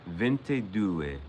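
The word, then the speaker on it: ventidue: Vente dou is how you say 22 in um 22 in Italian.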